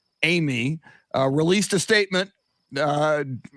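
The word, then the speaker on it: Eighmy: give it back utsa shannon uh yesterday taylor amy which is uh he's got an interesting name it's spelled e-i-g-h-m-y my understanding is it's pronounced amy uh released a statement uh which is written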